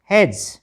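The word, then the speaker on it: hedge: जी E bridge H ई डी जी ई हैज हेडेज नहीं हैज़ तो काफी सहायता मिल रही होगी आपको उच्चारण सीखने में ठीक है अब आगे वर्ड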